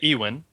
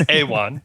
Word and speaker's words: Ewan: I' I've always said Ewen simple like like Ewokan it's Ewan McGregor. Yeah, I believe it's Awan.